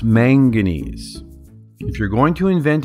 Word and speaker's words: manganese: cool those other little elements titanium vadium chromium magnes magnes it's pronounced manganese if you're going to invent a new periodic